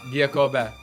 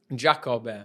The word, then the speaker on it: Giacobbe: So, Chris Giacobbe. Almost correct. Giacobbe. How do you pronounce Giacobbe. it? Giacobbe.